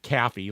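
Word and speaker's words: KAFY: So the K-A-F-Y, they pronounced it Caffey, like Kathy, but with an F, and the jingle went Caffey #1, and that was it.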